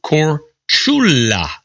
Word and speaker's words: Korčula: Did you know that Marco Polo was born on the Croatian island or Korčula, pronounced Korčula?